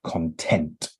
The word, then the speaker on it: content: do anything more and we also pronounce this word with an emphasis on on the second half of the word content so for example he